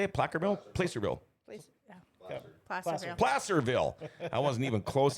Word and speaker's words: Placerville: Samantha, we need some support for our Hangtown 100 Placerville. How do you say it? Placerville? Placerville.